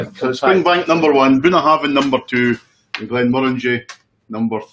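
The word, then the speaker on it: Bunnahabhain: How do you pronounce that, Neil? Bunahabin.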